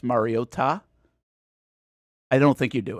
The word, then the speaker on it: Mariota: Trico and Collinssworth just decided that for 15 years we've been pronouncing uh Mariota's name wrong. And it was insane. It was every single time they put so much emphasis on the T.